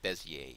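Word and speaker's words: Bézier: using the bezier tool yes I said bezier even though there's an r in the name it's French you don't pronounce that last letter usually in French words sort of like how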